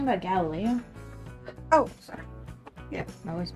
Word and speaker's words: Galileo: It's Galileo.